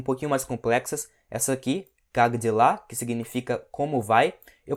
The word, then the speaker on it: как дела: Você pode ver que aqui a gente tem a letra K, mas na hora da pronúncia rápida, esse K meio que vira um G. Então fica как дела e não как дела.